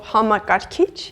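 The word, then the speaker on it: համակարգիչ: It consists of 4 syllables, and the last syllable, this kich part, is emphasized. Hamakarkich. And as you have noticed, the emphasis at the end is a light one compared to the English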